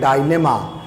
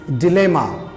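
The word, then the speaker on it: dilemma: एक और वर्ड यहाँ पे है, ज़्यादातर लोग इसको प्रोनाउंस करते हैं डायलेमा, बट the correct pronunciation is डिलेमा।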